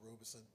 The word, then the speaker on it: Robeson: Robeson. We call it Robeson after Paul Robeson. That's how his family pronounces it.